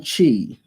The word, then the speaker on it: chi: We pronounce in the more anglicized English version CHI.